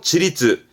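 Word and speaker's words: 自律: 발음은 키리츠, 키리츠. 그렇죠. 자율이지요. 지리츠, 지리츠.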